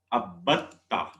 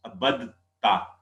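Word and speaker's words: عَبَدْتَ: In Arabic, if we would like to, we would try to join ba with dal, it will become difficult to pronounce. Abadta. So the Arabic linguistics, they say abatta.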